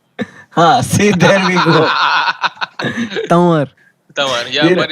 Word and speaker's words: Tanwar: Ladies and gentlemen, it is the very funny Nishant Tanwa. Uh, Hey Akash, it's Nishant Tanwar. see, there we go. Tanwar.